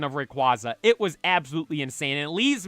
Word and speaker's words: Rayquaza: off on noting that I I say Rayquaza Rayquaza I think does sound cooler and reu that that's just crazy